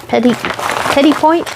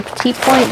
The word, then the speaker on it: petit point: This is a petit point or petite point, depending on how you want to pronounce it.